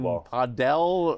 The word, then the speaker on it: padel: I noticed no investment in pickleball, no investment in padel, or is that how you pronounce it? Yeah, paddle. It's either padel or paddle, depending on how fancy.